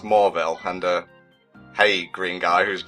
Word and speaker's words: Mauville: Well, I tricked you because it's pronounced Mauville, and hey, green guy whose name escapes me right now.